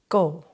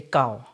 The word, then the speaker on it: gau: you how to make go or people say kao but the correct pronunciation is go which means cake and it's made with